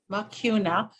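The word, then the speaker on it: Mucuna: don't I'm not familiar with that could you spell it please okay it's m u c u n a makuna and then prurians p r u r i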